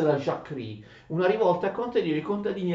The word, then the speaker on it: Jacquerie: Attenzione, Jacques Rie, ma si legge Jacquerie in francese.